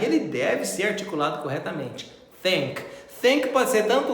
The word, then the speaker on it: think: Não vamos falar think, think, shrink, sgrink. Não, nós vamos colocar a língua nos dentes e vamos falar think, think.